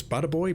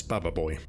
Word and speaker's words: Bubba Boy: I thought it was Butter Boy, but it's Bubba Boy.